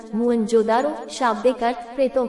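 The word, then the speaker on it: मोहनजोदड़ो: इनमें से दो नगर बहुत ही महत्वपूर्ण हैं, पंजाब का हड़प्पा तथा सिंध का मोहेंजोदड़ो, मूल उच्चारण मुअंजोदारो, शाब्दिक अर्थ प्रेतों का टीला।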